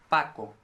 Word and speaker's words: Paco: from your mouth and then say paco paco you see it doesn't move paco but then an english